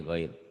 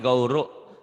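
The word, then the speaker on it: غَيْرُ: Goiru, Iya, ya goiru. ulang Pak. Illa ala azwajihim aw ma malakat aimanuhum fa innahum ghairu malum. Goiro, kok jadi gauru? Goiru, Ghairu. goiru. Fa innahum bukan gauru tapi goiru.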